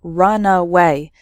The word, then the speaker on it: runaway: So the first word has 3 syllables, runaway, and the second word has just 2 syllables, runway.